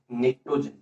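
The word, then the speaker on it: pnictogen: Question number 7, Y group 15 elements are called निक्टोजन। अच्छा, निक्टोजन का spelling ध्यान से, पी साइलेंट है, ठीक है।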